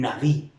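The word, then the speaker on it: נביא: le llamaba profeta y profeta se pronuncia un na'vi que viene siendo el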